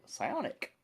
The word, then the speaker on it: Psionic: Um, if I'm being super pedantic craft, Sonic is spelled with an I instead of a Y. It's French sionic. Not it's it's definitely PSI.